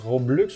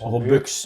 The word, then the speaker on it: Robux: Roblux ou Robux? Robux. Les Robux, ça c'est une niaiserie que certaines personnes disent. Fait que c'est R-O-B-U-X. Comme box en anglais pour argent.